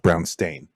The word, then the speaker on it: Brownstein: It's pronounced Brownstein.